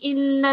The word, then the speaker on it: إلا: So this verse will be هل جزاء الإحسان إلا الإحسان. So I kind of emphasized on it now to make it E rather than A or Ne, yeah?